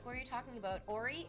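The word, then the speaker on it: Oree: Ori, it's spelled O-R-E-E.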